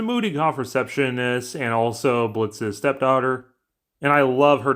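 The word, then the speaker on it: Blitzø: titular h a boss is Blitz spelled with a silent o he's played by YouTube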